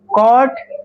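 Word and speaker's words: caught: a little mouse rain over the lion the lion walk up এন্ড কট the mouse ক ইউজিব আমরা ক যখন জি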